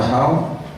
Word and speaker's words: Dachau: O campo de concentração de Dachau, se escreve Dachau, mas se fala Dachau.